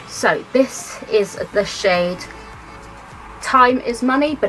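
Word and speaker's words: Thyme: So this is the shade Time Is Money, but it's spelled T-H-Y-M-E, so it's like the herb, which actually I think is really cute.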